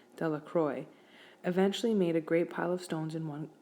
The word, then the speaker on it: Delacroix: Bobby and Harry Jones in Dicky dellacroix the villagers pronounce the name Delacroix eventually made a great